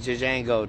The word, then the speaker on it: Django: He said, my name is Django. The J is silent. The G is silent.